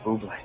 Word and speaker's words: Bublé: Ooh, Blackberry Bublé, my favorite. You mean bubbly? No, I mean Bublé. You're Michael Bublé, that's a bubbly. She's right, Michael Bublé. It's pronounced Bublé, I know, thanks.